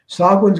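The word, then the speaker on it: Sahuagin: Sogwin's got two pronunciations. Sogwin is the Hogwin, and Ixtchitl, only 4 syllables.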